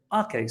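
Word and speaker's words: Aké: I was saying AK. I do apologize. I didn't mean it. I just thought that's how you pronounce it. But thank you so much for helping me out. It's actually Nathan Ake.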